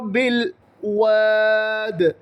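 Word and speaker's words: بِالْوَادِ: വ്യക്തമായി ഉച്ചരിക്കണം Jabu Zahra ബിൽ വാദ് ബിൽ വാദ് ബി ഈ കാണുന്ന അലിഫ് ഉച്ചരിക്കരുത് ബായിൽ നിന്നും നേരെ ലാമിലേക്ക് ചാടണം ബിൽ വാദ് ബില്ലാഹി മിനശൈത്താനി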